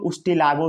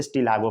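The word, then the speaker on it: Ustilago: जैसे स्टिलागो भी होता है, इसके स्टिलागो में यू एब्सेंट होता है, ठीक है, या इसको उस्टिलागो भी पढ़ लो तो याद रहेगा स्पेलिंग, ठीक है, लेकिन इसको स्टिलागो पढ़ा जाता है, ठीक है।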